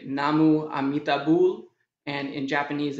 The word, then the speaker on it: namu amitabul: you'd say namo amitabha in korean you'd say namu amitabul and in japanese it's